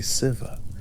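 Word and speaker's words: Sadhbh: with his mother, Sadba, whose name is pronounced approximately Civa, the syllable long and open, a sound that moves without resistance through the mouth.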